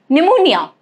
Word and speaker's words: pneumonia: Rule number one, it is silent in the combinations PS, PT and PN at the beginning of the words. Okay? Like psychology, pterodactyl, pneumonia. Okay?